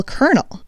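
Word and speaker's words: colonel: a colel of corn as if there's an R but there is no R in c o l o n e l kernel so grammar changing to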